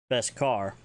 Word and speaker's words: beskar: Beskar for that.